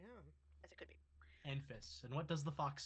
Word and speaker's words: Enfys: It's something akin to either Envis or Envis. Either is fine.